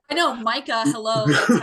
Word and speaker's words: Micah: ] way to pronounce that name I know Micah hello that's how it's pronounced move to a new house in San